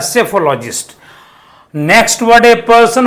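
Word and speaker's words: psephologist: लिए जो वर्ड आएगा सेफोलॉजिस्ट इसको कहते हैं पी साइलेंट रहता है सेफोलॉजिस्ट नेक्स्ट वड पर्सन हु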